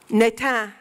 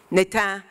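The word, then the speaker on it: natan: for the good gift netan is a hebrew word for give netan is a palindrome forward or backwards it's spelled n-a-t-a-n i love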